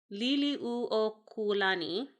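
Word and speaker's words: Liliʻuokalani: Liliuokulani. Try that one real fast. There's a lot of vowels in this language, which is a really tough one for me. Oh, I bet. And you pronounce every one.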